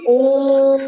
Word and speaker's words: ओम: इसीलिए हम ओमकार, ओनली ओम, ये ओम का जो उच्चारण है, ओम तीनों लेटर के लेकर होता है, अ प्लस उ प्लस म।